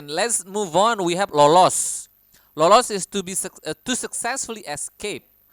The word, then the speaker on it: lolos: We have lolos. Lolos is to successfully escape or avoid something. Lolos, lolos. You need to pronounce the S clearly.